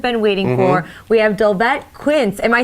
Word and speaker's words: Dolvett Quince: We have Dolvett, Quince. Am I saying that correctly, Dolvett? You are. Okay, good.